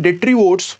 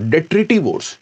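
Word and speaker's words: detritivore: When डेट्रीवोर्स और डेट्रिटिवोर्स, दोनों ही pronunciation ठीक है, डेट्रीवोर और डेट्रिटिवोर, break down डेट्रिटस into smaller particle, it is called catabolism.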